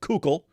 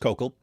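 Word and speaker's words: Koukl: Looks like Cook. Cook, but don't call him that to his face. He gets really mad if you call him Cuckoo. Uh it's Coco. It's pronounced Kokal.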